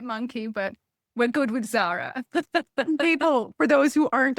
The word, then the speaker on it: Tzara: but we're good with Zara. People, for those who aren't on YouTube hearing this, your name is spelled TZ A R A. And so that's why a dyslexic person may call you Tarzan, but oh my word.